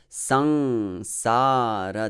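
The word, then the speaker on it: saṃsāra: But the actual word is sangsara. So the first syllable, sang, is a heavy syllable. Even though it has a short vowel, it is a heavy syllable because of that anusvara. And then sa, the second syllable, sa, it is heavy syllable because of the long vowel.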